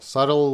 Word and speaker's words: subtle: Everyone, subtle. Subtle. You see that B? Again, we don't want to say that B.